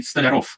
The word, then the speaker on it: Stolyarov: your last name well if you were to pronounce it in the original Russian it would be federal but for Americans it's only rough so I do not